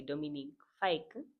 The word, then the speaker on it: Dominic Fike: And the last song is White Kiss by Dominic Fike.